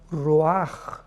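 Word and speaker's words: ruach: Y es importante porque la palabra vi entonces la palabra roaj. Roaj r u a c h. La ch en hebreo se pronuncia como una j roj que significa espíritus.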